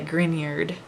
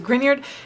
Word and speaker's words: Grignard: is the grignard which i know looks like it's spelled grignard but it's actually a person's name so be sure you say grignard like this is an NA instead of a GN so it's a grignard